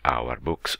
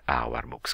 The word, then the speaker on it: Ourboox: dieci minuti vorrei presentarvi quello che assumerò per ipotesi si pronunci hour books un po come fanno